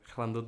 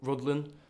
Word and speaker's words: Rhuddlan: family in I wish I always pronounce it wrong plundered no right now yeah yeah funded no Rhuddlan I think that's it I think would be